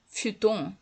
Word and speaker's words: futon: Ben, ça s'écrit futon en alphabet, mais il faut prononcer à la japonaise en romaji. Futon desu ne, fu. Fu desu ne, h ne, fu. Il n'y a pas de prononciation F en japonais. C'est fu. Futon.